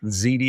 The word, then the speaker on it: Ziede: So, my name is Ziti. If my last name seems hard to pronounce, just think of the baked pasta, baked ziti.